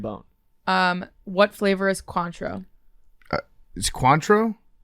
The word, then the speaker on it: Cointreau: um what flavor is Cointreau Cointreau X fruity spell it c-o-i-n oh it's orange yeah is that how you say it Quant yeah that's pretty pretty close I've never had it